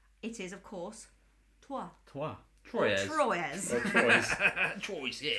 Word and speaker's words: Troyes: That's Trois, isn't it? That's Trois. T-R-O-Y-E-S. That's 3. This is a place called Trois. Trois, but it's spelt Troyes.